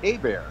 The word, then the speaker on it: Hebert: But anyway, yeah, my last name's actually pronounced Hebert. It's Louisiana French, and so I know it looks like Hebert, and sometimes people misspell it as Herbert, but the H is silent and the E is pronounced like an A, so it's like a bear is attacking me.